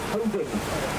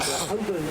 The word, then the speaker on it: Holborn: The area up to the left-hand side is the district of Holborn, and Holborn is another of those places that's spelt strangely. It's spelled Holborn. So it looks like Holborn, but it's pronounced Holborn.